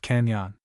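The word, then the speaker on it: cañon: The word canon is pronounced canyon.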